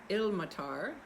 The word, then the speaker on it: Ilmatar: because she is indeed ill-matar i've been pronouncing it the wrong way in the past that the accent is on the first syllable she is the daughter